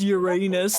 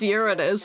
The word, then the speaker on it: Uranus: This planet in Everyone's like, it's pronounced Uranus. No, it's pronounced Uranus, which doesn't sound as bad as Uranus, but you can still take it sounds bad cuz Urine.